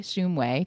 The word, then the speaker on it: Shumway: Shumway. Did I pronounce it correctly? Shumway? Shumway, but it's close Shumway.